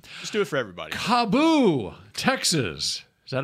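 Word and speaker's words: KAABOO: Cabo.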